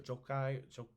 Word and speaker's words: Jochi: son named jochi uh j-o-c-h-i is how we would spell it yochi or jokai maybe that was his